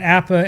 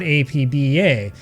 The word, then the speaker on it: APBA: Okay, we should stop here because I get comments all the time from people who want to know why I call it APA and not APba.